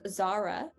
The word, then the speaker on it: Zara: is zara uh again the a is very difficult um but that's going to be a very very soft and light a it's going to have a lot of air in it um because it's at the front of the word see how notice how